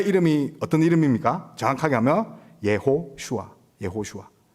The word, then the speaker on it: 예호슈아: 그러면 예수님의 원래 이름이 어떤 이름입니까 정확하게 하면 예호슈아 예호슈아이 예호슈아 단어 우리가 이제 여호수아 배웠는데이 단어의 배경도 우리가